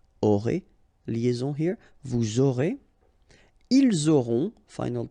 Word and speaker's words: ils auront: end here, et, aurez, liaison here, vous aurez, ils auront, final T not pronounced, elles auront.